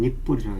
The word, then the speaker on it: 니플: 니플. 예. 우리 발음을 좀 세게 하면 니뿔이라고 해요.